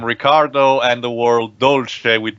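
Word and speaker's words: Riccardo: My god, I thought we were going And I home remind you that the name Ricardo here is spelled with 2 C, like Ricardo.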